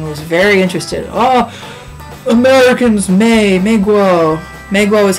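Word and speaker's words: 美国: the bus and was very interested oh Americans May Meo Meo is how you say American in Chinese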